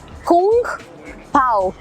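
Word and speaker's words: kung pao: KUNGPAO, कुंग पाओ, it's called कुंग पाओ chicken.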